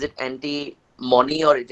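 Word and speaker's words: antimony: म हा इ it pronounce it properly correct pronounce करो इसको एंटी मराइड इ इट एंटी मनी और इट इ एंटी मनी एंटी मनी इ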